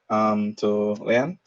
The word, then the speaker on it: Leann: Am I pronouncing your name correctly, Leann?